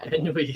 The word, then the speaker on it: ennui: Yeah, ennui.